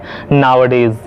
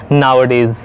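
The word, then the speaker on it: nowadays: साथ लिखना होता है, नाउअडेज। और अगर इसको बोलना हो तब भी इसे एक साथ ही बोलना होता है, नाउअडेज। अगर हम इसको नाउ अ डेज बोलेंगे तो ये गलत प्रोनाउंसिएशन हो जाएगी।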